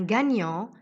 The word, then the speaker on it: gagnant: ses mots au féminin exemple un gagnant va donner une gagnante cette fois au féminin j'entends le thé qui était muet au masculin un renard va donner